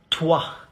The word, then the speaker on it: toi: You say toi. So again, the letter O and I combined make the sound wa, O-I, wa. So toi, toi, toi, you, toi.